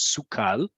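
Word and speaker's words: סוכל: dots and the bars, making sure that you pronounce it as sukal.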